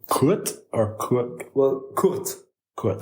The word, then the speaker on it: Kurt: Kurt or Kurt? Well, Kurt. Kurt. K-U-R-T. Okay. And basically you don't really pronounce the R in it, so it's more like Kurt.